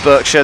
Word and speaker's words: Berkshire: Berkshire is pronounced Berkshire.